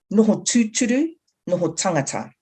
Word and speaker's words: Noho tūturu, Noho tangata: see on the screen, that's the Māori language, and you pronounce it Noho tūturu, Noho tangata.